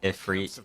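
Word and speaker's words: Ifrit: technically if for it the correct way to pronounce it is it free even when it's spelled i f r i t like it usually is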